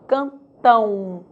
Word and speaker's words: cantam: fonética w ok cantam Note que a letra M representa uma semivogal pois tenho o som de u está apoiada em uma vogal na mesma sílaba É como se eu falasse daquela forma Cantão Cantão é o caso